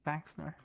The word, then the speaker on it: PhaxeNor: yeah, PhaxeNor? the PH is F. Mm-hmm. PhaxeNor. Yeah. Okay. Oh, okay. PhaxeNor.